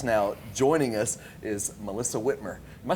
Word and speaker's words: Whitmer: I'm one of your hosts here, and sitting in for Jackie Hager, if you're just now joining us, is Melissa Whitmer.